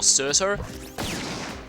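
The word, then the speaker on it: Surtr: Speaking of Cert, it's always inconsistent whether it's pronounced as Cert or Certer. Like, often the R is silent, and sometimes the R is not silent.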